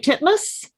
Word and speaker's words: Titmus: And it's written and starring Tori, are we pronouncing her name right? Titmus?